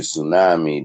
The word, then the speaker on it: tsunami: don't do the movement it's sort of like tsunami they don't even want you to learn how to pronounce the T and s together so there tell you tsunami the T silent um USA Island right